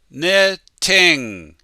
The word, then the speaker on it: knitting: wool or cotton and the first letter is a silent k slowly knitting quickly knitting she's knitting